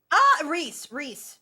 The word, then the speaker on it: Rhys: Reese.